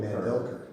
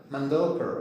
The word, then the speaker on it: Mandelker: That's because you're European and Europeans tend to the first uh syllable. Americans, we tend to use the second syllable. So, most people call me Mandelker. Mandelker.